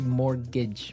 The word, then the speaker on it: mortgage: It has a t in it, but you don't pronounce it. You say mortgage.